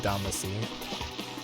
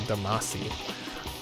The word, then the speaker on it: Damacy: or something like that but it's spelled like you would say dama C or Damacy but I think it's actually pronounced da machine the way the Japanese would say it kind of funny